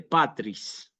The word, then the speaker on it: patris: el nombre del Padre patris patris fíjense una palabra bisílaba yo a propósito pongo el acento en la a Aunque no es obligatorio